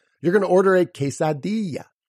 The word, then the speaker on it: quesadilla: of it alright so that I at the end of it quesadilla quesadilla why because that I makes the e sound you're also going to